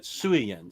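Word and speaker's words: Suayan: Jeffy Nat says Suayen. Miko Suayen. We'll never know until next Imaginaut comes back. Jeffy Nat's friends with Miko Suayen. So that's how you pronounce that. Suayen.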